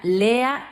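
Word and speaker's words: לֵאָה: Se pronuncia Lea y no viene del hebreo, sino del idioma acadio, que es otro idioma antiguo de Mesopotamia y significa vaca o vaca salvaje.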